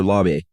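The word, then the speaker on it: Laube: Uh, so, uh, how did you pronounce the name? Lob or lobby.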